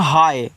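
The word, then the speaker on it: hi: तो याद रखना अगर आपके पास कोई एच आई लिखकर के भेजें तो इसको पढ़ते हैं हाय। तो इसे आप क्या पढ़ोगे? हाय पढ़ोगे। एच आई को हाय पढ़ना है।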